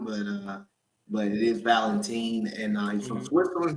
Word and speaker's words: Valentin: it's it Robert Valentine is that how you pronounce it that's right Robert Valentine yeah some people say Valentine but uh but it is Valentine and uh he's from Switzerland he's actually originally